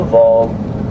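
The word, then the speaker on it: vog: That's called a Vol. It's spelled V as in victory, O-G, pronounced a Vol.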